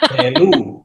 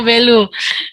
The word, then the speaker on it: Belu: Belu apa Belu ya Pak bacanya? Belu. Oh Belu.